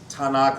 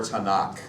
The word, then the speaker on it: Tanakh: For them that's, and I've heard it pronounced both ways, Tanakh or Tanakh.